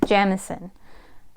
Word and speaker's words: Jemisin: I have been saying her name wrong, I'm so sorry. N.K. Jemisin.